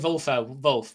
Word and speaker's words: Wolfe: I mean, I'm saying Wolf because the Dutch media always pronounced it that way, and I start the Dutch commentary with it.